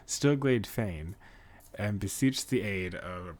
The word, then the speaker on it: Stillglade Fane: You, sir, head to Stillglade Glane. Wow, I really butchered that. Stillglade Fane, and beseech the aid of Brother Asumi.